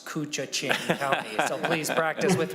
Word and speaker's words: Koochiching: after this bill everyone should be able to pronounce cucha Ching County so please practice with me cucha ching